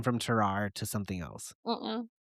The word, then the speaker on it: Tarrare: It's spelled T A R R A R E. So naturally, you kind of want to say Terrare, but it's Terrar.